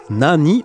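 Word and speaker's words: 何: Effectivement, c'était Nani ou Nan. Hein, on peut le prononcer de ces deux manières. Petit piège sur la troisième réponse, où on avait Nan.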